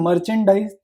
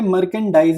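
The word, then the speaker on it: merchandise: फिर नेक्स्ट हमारे को गिवन है मर्चेंडाइज। इसको मर्चेंडाइज भी बोल सकते हैं, मर्केंडाइज भी बोल सकते हैं, डिपेंड करता है आप कैसे प्रोनाउंस कर रहे हो, ठीक है।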